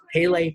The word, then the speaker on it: Pele Pro: And so this is Pele Pro. Some people say Pale Pro.